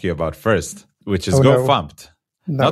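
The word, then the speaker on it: gofumpt: Because I used to call the original GoFumped GoFMT. Mm-hmm. And then somebody told me, no, it's pronounced GoFumped.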